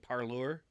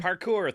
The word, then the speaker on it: parkour: goes with that yes how do you say it parlor parkour parkour thank you um the sport Hawking